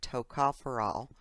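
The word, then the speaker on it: tocopherol: so very important and you pronounce that TOA foral um is the uh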